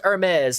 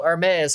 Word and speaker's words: Hermes: yeah Zola it's pronounced Hermes like the H in herb is silent so Hermes Hermes the H would